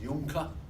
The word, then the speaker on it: Junker: And the aristocracy was the Junker aristocracy, J-U-N-C-K-E-R, pronounced Junker.